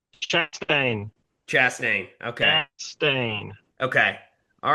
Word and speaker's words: Chastain: Chastain.